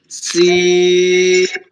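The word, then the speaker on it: س: যখন পাঞ্চার হয়ে যায় সাইকেলের চাকা যখন পাঞ্চার হয়ে যায় টিউব যখন লিক হয়ে যায় তখন একটা সাউন্ড করে কিভাবে হ্যাঁ এরকম একটা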